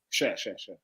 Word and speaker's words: Schär: Share. It's a fantastic show. It's spelled Schär with a little umlaut, meaning share.